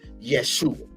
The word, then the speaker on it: Yeshua: but we know him the right pronunciation or enunciation as Yeshua and when we